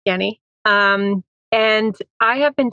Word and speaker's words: Jenni: Um, so my name is Jenny, pronounced Yenni.